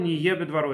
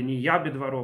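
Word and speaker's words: נהיה בדברו: Шагаколь не ебе дворо или не ябе дворо по некоторым произношениям. Сефардим произносит не ябе дворо в прошедшем времени. А Ашкеназим произносит не е.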